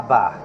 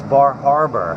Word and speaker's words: Bar Harbor: the rich Boston crew they call it Baja bah-bah ABA no it's Bar Harbor people just don't know how to pronounce stuff it's like I have